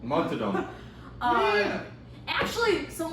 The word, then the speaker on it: Montaudon: Montaudon. Montadon.